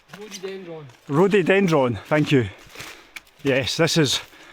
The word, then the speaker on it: rhododendron: I always pronounce it wrong. Rhododendron. Rhododendron. Rhododendron, thank you.